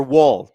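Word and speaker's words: Woll: Uh NCL says, "Is it wall or wool?" Well, recently it's been both, but it is Wool.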